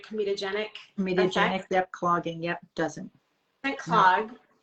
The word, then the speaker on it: comedogenic: Comedogenic, yep, clogging, yep, doesn't clog.